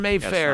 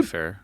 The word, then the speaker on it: Wayfair: Wayfair, Yeah, Mayfair. it's not Mayfair. It's You- Wayfair. You said it right Wayfair? the first time.